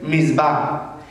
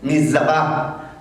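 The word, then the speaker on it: מצווה: Mandamiento en hebreo es misbah. Y misbah, o si lo pronuncio ampliamente, sería mizabah, que es exactamente la misma raíz verbal de orden.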